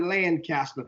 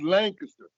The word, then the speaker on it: Lancaster: Sometimes we call it Lancaster, but it's not how you pronounce it up there. How's it pronounced the high school? It's pronounced Lancaster.